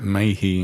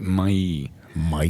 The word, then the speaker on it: Mahy: deep history of the mayi family well for a start we don't pronounce it mayi in gy how do we pronounce it we pronounce it may may it's French Norman French so um they've been